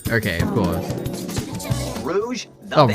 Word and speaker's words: Rouge: be a human oh Rogue okay of course Rouge the Rouge is that how you say it why have I said Rogue this whole time it's not even spelled Rogue I just realized well